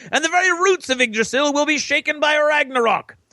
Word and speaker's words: Yggdrasil: Yggdrasil, which is how you pronounce it, is an immense mythical ash tree that connects the 9 worlds in Norse cosmology. The branches of Yggdrasil extend far into the heavens, and the tree